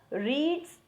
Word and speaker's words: read: लेकिन अगर मैं बोलूँ Sita रीड्स a book, okay, तो ये हो जाएगा simple present. But इफ आई से Sita रेड a book, spelling same रहेगा READ बट प्रोनाउंसिएशन डिफरेंट हो जाएगा.